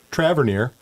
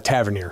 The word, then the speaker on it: Tavernier: I'm your host, Darren Mikey, and today I'm here with Traver from the city of Whiteall. Welcome. Thanks. Uh, Tavern. Tavern. I mispronounced your name.